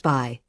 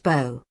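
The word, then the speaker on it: 柏: In mainland China, it's pronounced by, but in Taiwan, it's pronounced bo.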